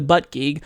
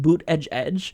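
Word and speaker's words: Buttigieg: win again so I am not feeling the butt gek and I know that I'm mispronouncing his name it's actually pronounced boot Edge Edge so bued Edge or whatever I'm just going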